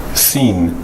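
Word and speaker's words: שׂ: 따라서 왼쪽에 붙으면 여긴 sin이라고 했는데 sin, sin 이제 이렇게 쉬가 되지 않는 그 sin, 시옷 발음 비슷하고 shin, shin. 요게 붙으면 이렇게 발음 기호에서 s 길게 늘린 shin으로 되는데 그 히브리어 알파벳이 몇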